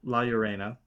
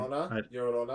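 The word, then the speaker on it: La Llorona: Now I think most of us know laurena. Lorena. Yorona. Yurona. You just pronounce it from now on for me.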